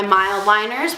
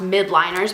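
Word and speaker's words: Mildliner: so we've got my mild liners which for the longest time I thought were pronounced mid liners but it's not they're mild and the pilot G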